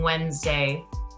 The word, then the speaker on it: Wednesday: there it is wednesday so i spelt it w e and i forgot the d because i can't hear it when i'm saying wednesday and then i put